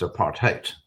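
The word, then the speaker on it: apartheid: heard of aparte uh it's pronounced in Africans a part haate and that kind of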